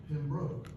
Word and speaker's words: Pembroke: For anyone who does not know, the correct pronunciation of Pembroke is Pembroke. And broke, B-R-O-K-E.